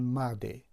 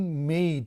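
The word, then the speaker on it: made: را میبینن تلفظ میکنن مده. این مده نیست، این مید است که حرف ای را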